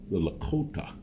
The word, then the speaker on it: Lakota: Yeah, see, they say the Lakota, that's how it's pronounced, Lakotas, had, of course, had received the tail feathers.